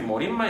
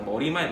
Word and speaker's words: 머리말: 근데 지금 우리 머릿말 이렇게 발음하잖아. 머리말 누가 그래? 근데 그래도 사이시옷을 안 적어.